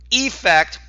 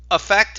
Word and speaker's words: effect: decision will affect anyone effect that this effect effect whether it's an e or an a it's pronounced the same and you might say